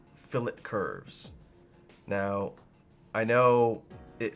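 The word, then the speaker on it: fillet: see here is called Phillip curves now I know it says the word looks like filet but in drafting terminology when making edits like this two shapes it's actually pronounced fill it anyway so if you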